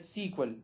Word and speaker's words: SQL: SQL is pronounce as सीक्वल, इसको हम सीक्वल वगैरह इस तरह प्रोनाउंस कर सकते हैं।